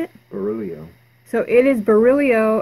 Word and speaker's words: Barillio: what else I had murillo it seems like I have some other things hey it's actually beryllium beryllium yes oh I said it wrong I'm so sorry Verrilli